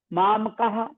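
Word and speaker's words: मामकाः: बात ध्यान रखिएगा लेकिन बीच में विसर्ग आता है मामका मामकाह आप चाहे तो मामकाह बोल सकते हैं या अगला जो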